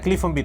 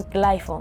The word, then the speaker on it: Clyphone Beat: Se pronuncia Cliff on Beat, ¿no? Para toda la gente que a veces se confunde. Algunos me dicen Clyphon, hay otros que me dicen Ciclonbeat.